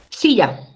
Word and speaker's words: silla: Silla. ¿Dónde llevo la fuerza de voz? En la penúltima.